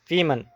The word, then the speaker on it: women: women به تلفظ دقت کنید. یکمش میشود woman، دیومش میشود women.